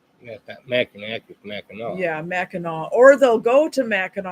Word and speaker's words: Mackinac: here that's like people that always go to mackinac island and call it mackinac island yuck yeah connect with mackinac yeah mackinac or they'll go to mackinac island and then